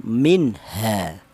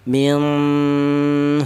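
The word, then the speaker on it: مِنْهَا: Cara bacanya minha jangan dibaca ikhfa ya. Artinya ikhfa itu samar. Jangan dibaca samar. Nun matinya jangan dibaca samar. Contoh yang dibaca samar minha ha salah ya. Karena apa? Karena nun ini bertemu nun mati ini bertemu dengan huruf ha. Maka cara bacanya dibaca izhar atau artinya izhar itu jelas. minha bahwa di sini ada nun matinya kelihatan minha.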